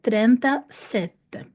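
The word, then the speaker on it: trentasette: буде зажата двома голосними оскільки я знаю що окремо існує слово сете числівник сетте і воно читається через звук с тому я його буду читати як т а не тзте ще раз правильний варіант про читання це буде трента сетте А навіщо я вам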